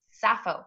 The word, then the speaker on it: Sappho: Sappho, and I have to say your name is spelled Sappho, which is pronounced hmm Sappho.